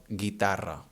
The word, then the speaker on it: guitarra: For example, guitarra.